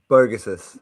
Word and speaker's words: Bogusis: Bogusis.